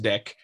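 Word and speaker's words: deque: deck queue and yes it's pronounced deck so says the python documentation i'm sure there are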